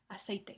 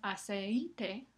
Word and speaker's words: aceite: Aceite. No es aceite, sino aceite.